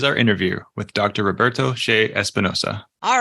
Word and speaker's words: Che Espinoza: Ado here is our interview with Dr Roberto sha Espinosa all right well welcome everybody we are so thrilled today to have Dr Roberto Shea espanosa am I pronouncing that right yeah that's good awesome awesome